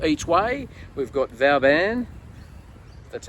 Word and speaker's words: Vauban: We've got Vauban, that's how you say it, $26 each way, and one Smooth Operator, $15 each way.